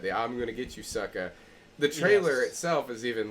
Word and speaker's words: Sucka: going to get you sucker and it's like no it's sucka with an A you have to pronounce it right whitey you know but